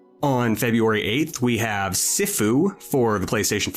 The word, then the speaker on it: Sifu: It is pronounced Sifu. Sifu. Okay. Thank you. Tensei. My mistake. It is pronounced Sifu. Thank you, Peaches. Not seafood, not sushi bros.